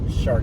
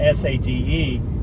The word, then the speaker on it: Sade: in the 80s we had a singer called Shard that spelled s a d e and I always joke back then that it